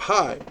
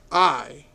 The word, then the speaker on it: Ai: Then we have Hai, which is spelled Hai. Here it is also called Ai, spelled Ai.